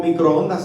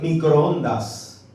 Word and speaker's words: microondas: Se dice el microondas, no se dice el microonda.